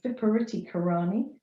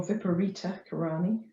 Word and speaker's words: Viparita Karani: this is an inversion it's called viparity karani or viparita karani depending on how your sanskrit pronunciation goes um and it's